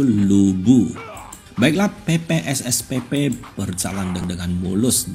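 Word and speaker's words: Lü Bu: mainkan nah ini adalah lipu ya ini adalah Warrior terkuat di dunia dnasty Warrior dan dunia The Kingdom bacanya itu adalah lipu pinginnya itu Lubu Baiklah PPSSPP berjalan dengan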